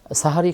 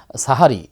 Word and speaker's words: সাহরি: আমরা অনেকেই মনে করি শব্দটা হচ্ছে সেহরি। কেউ মনেছে সাহারি। আসলে উচ্চারণগত দিক থেকে দুটিই ভুল। তার কারণ হলো সেহরি শব্দের অর্থ হচ্ছে জাদু। বরং আমরা যেটা হচ্ছে সাহারি এটা অর্থাৎ সাহারি যদি বাংলায় উচ্চারণ করতে বলি তাহলে হয় আকার দিয়ে বলতে হবে। অর্থাৎ সাহারি।